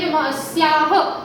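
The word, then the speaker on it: अस्याः: तो इसे क्या पढ़ेंगे, अस्याह, क्या पढ़ेंगे, अस्याह, अस्याह।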